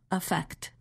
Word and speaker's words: effect: When we are speaking quickly, the first vowel of the noun, effect, is reduced to the quick sound, affect, which is the same sound as the verb.